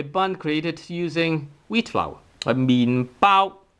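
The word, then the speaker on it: 麵包: 麵包麵包.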